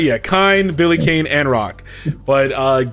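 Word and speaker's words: Kain: So we have those characters in addition to Billy Kane, Kine, and or I don't know how to pronounce it. You said it right. Is that right? Yeah, Kine, Billy Kane, and Rock.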